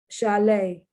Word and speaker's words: chalet: Chalet. Now the T isn't pronounced there because it's French. It's a French word that has now been incorporated into the English language.